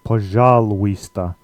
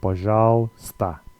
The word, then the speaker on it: пожалуйста: But in the case of пожалуйста, the uy sound gets dropped here, so you just say пожалуйста, пожалуйста.